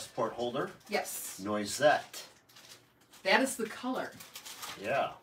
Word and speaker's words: noisette: Because I always, noisette. Is that right, Cindy? Noisette.